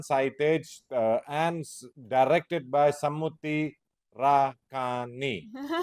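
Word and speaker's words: Samuthirakani: It's a Telugu movie starring Pawan Kalyan, Sai Tej, and directed by Samuti Rakani. That's how you say the name.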